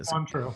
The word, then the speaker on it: Cointreau: Cointreau.